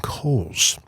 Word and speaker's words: Kohl's: the very exclusive um Kohl's and get really good or uh Tractor Supply silent h at the on the coals yeah you know also